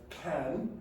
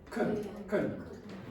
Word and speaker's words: can: Also, as I said before, that word is not pronounced can, it's pronounced kun, when you say it quick.